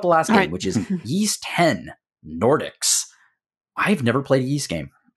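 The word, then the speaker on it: Ys: Let's talk about the last game, which is Yeast 10 Nordics. I've never played a Yeast game. I played a couple. Hillary's played a couple. Yep. I know it's pronounced Yeast.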